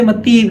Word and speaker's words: متی: کی لکھی ہوئی ہے، متی کہہ لیں، متا کہہ لیں، ہم اسے کیونکہ عربی تلفظ میں ہم جو ہے اسے اس طرح کی اس کو کھڑا زبر میں پڑھتے ہیں، تو یہ ویسے اردو پروناؤنسیشن میں اسے متی کہتے ہیں، انگلش میں اسے